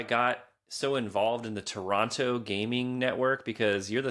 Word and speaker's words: Toronto: So, you have not been to Moonshine Gaming in in Toronto? I I have heard I don't pronounce the T.